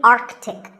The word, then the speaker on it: Arctic: pole of the earth it's mispronounced by many as arctic but it's actually arctic the sea in the middle is not silent similarly antarctic and antarctica